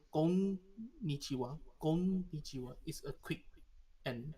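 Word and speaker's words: こんにちは: supposed to pronounce konnichiwa.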